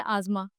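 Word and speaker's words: asthma: अस्थमा, इसका correct pronunciation होता है आज़मा, आज़मा, okay. दैट इज़ the correct pronunciation.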